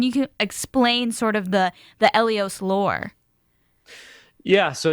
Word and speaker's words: ELEOS: ELEOS. I love it. I don't think any of us got that right. We had several guesses, and none of us had that almost like AE pronunciation at the beginning, but I love that.